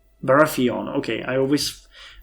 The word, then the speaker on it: Baratheon: initiation of the um Roberts uh I was barathon right Baratheon okay I always mispronounce that so I apologize in advance for